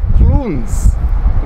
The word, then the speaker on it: Clunes: donald cameron a scotsman so it's actually pronounced cloons includes something like that